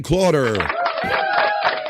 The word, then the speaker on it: Clauder: Look how chat family works, because my bro Brian Clauder. It rhymes with daughter.